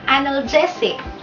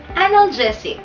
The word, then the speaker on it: analgesic: Karaniwan ang bigkas ng mga Pilipino diyan ay analgesic. Kung anong bigkas siyang sulat. Pero ang tama pong bigkas sa salitang ito ay analgesic. Ulitin natin. Analgesic. Analgesic. Okay.